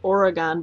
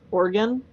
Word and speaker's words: Oregon: It's now I'm gonna because I used to say it Oregon, but that's wrong. It's Oregon. Like organ.